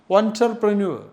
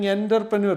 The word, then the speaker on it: entrepreneur: The pronunciation is photograph and the photographer and photography and entrepreneur. Some people are telling entpreneur the pronunciation is absolutely wrong. Entrepreneur entpreneur.